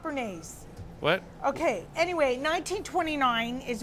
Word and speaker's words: Bernays: named Edward L um I always say his name wrong but it's Ben benjley I think Benji that's how you say it b-n-g-y no Bernays Edward Bernice you know he